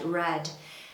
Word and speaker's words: read: So we have read, read, red. And people do kind of get confused about how to pronounce this. But it's the colour red.